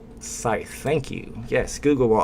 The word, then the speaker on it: Scythe: the i in the middle no C y Scythe thank you yes Google will always give you